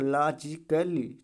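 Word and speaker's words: logically: आया, तो ये क्या है, पूरी तरीके से साइलेंट है। ठीक है, इसको कैसे पढ़ा जाएगा, लॉजिकली।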